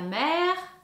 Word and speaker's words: mère: Ensuite, nous avons la mère. La mer aussi avec l'accent grave sur le e. Le son est ouvert.